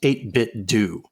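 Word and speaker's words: 8BitDo: kcw creative says the company has said it's pronounced 8bit do I refuse to say it that way so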